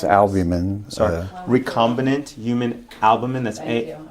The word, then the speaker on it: albumin: is re combinant human albamin it's made it's albamin reccombinant human albamin that's a a lb b u m i Yeah.